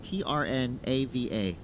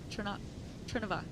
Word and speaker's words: Trnava: His hometown, a little hard to pronounce here because there's only 2 vowels, Trnava. Trnava? That's what I was thinking. I was also trying to practice that. Trnava.